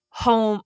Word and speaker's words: HOEM: Um I think home retreats and workshops is their like business name and it's spelled H O E M because it is the first two letters of their names together.